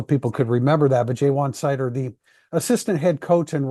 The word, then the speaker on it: Ja'Juan Seider: Dame's new defensive coordinator, replacing Al Golden, and Jaywan Seider. That's the pronunciation. I gave a pronunciation in today's Thursday Thoughts, just so people could remember that. But Jaywan Seider, the assistant head coach and running backs coach